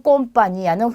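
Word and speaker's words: compañía: 그래서 우리 스페인에서 처음 본 글자예요. N의 다음에 물결이 있는 얘는 뒤에 오는 모음에다가 이중모음을 만들고 니은 발음을 한다라고 기억을 하시면 되겠습니다.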